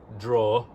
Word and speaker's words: drawer: But also it's the same pronunciation.